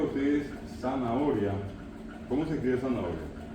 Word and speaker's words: zanahoria: Si yo le digo a ustedes zanahoria, ¿cómo se escribe zanahoria? La Z, ¿qué fue? La H. Ninguna de esas dos letras suenan como tiene que sonar. De hecho, la H no suena.